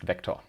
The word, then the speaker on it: Vec: A continuously growable array written as vect and pronounced vector.